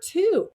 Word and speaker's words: two: what about the number two and they're like oh the w means in two is in Twin and twice in 12 it means two and even though the W is silent it's not an exception